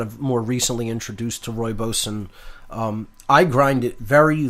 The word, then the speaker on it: rooibos: have spelled Roo IBOs pronounced huevos looks like rooibos but it's pronounced rooibos and it's just it's fantastic some